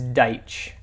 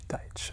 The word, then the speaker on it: Deitsch: It's Deitch. Deitch. Okay. Just like one syllable, Deitch.